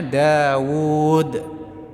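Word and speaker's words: داود: sukun jadi Mad thii jadi orang mengucap Daud meskipun tulisan wunya pendek enggak ada ww sukunnya tapi tetap membacanya Daud tapi Amr meskipun ada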